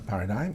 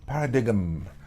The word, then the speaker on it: paradigm: A paradigm is a framework or set of assumptions that underlines a particular way of thinking or understanding. Notice that the G is silent. We don't say paradigm. It's a paradigm.